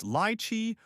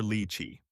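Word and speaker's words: lychee: The first character corresponds to a lee sound, not lie.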